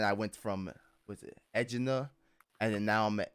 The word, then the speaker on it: Echidna: Echidna. Yeah. You're right. Oh, excellent. I Yes. say Echidna. Yeah. +1 for the boys. Yeah. Apparently it's echidna or echidona, whichever one work apparently.